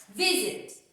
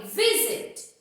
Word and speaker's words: visit: Ó, visit. A sílaba forte foi o vi. Foi a primeira sílaba que eu falei, visit.